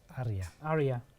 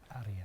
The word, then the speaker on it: Aria: Now, how do we pronounce this? Aria. Aria.